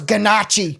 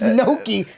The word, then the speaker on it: gnocchi: I thought it was ganache. Yeah. See, let me get the ganache with sausage. Yeah. It's gnocchi. I had no idea.